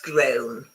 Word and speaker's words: groan: Because there are loads of homophones, okay? So, grown, we all know, to grow, grew, grown, grew, grown. And this second grown, do you know the meaning? What's grown?